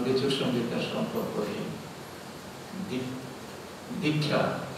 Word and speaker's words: দীক্ষা: দীক্ষা সংস্কৃত উচ্চারণ দীক্ষা, তার মানে কি হচ্ছে,